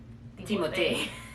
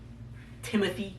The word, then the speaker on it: Timothée: You gotta say his name a certain way, all right? Timothée. Timothée Chalamet. Look. He's French. Yeah, look. That guy, Timothy.